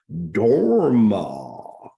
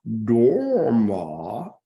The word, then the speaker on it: Dharma: Dharma, Dharma is how you pronounce Dharma if you put that Sanskrit swing to it, right?